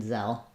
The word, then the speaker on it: Zelle: that e says f and this e is just silent in zell uh then when we